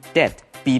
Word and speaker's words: debt: 这里我们来学 debt 债务的这个用法。首先注意它的发音 debt。B 不发音 debt。如果欠人家钱，Are you in debt？